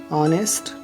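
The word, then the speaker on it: honest: कुछ शब्दों में एच ओ से शुरू होने वाले शब्दों में एच का प्रोनाउंसिएशन नहीं होता। For example honour, ऑनेस्ट, honourable, our, ऐसे वर्ड्स में, ओके।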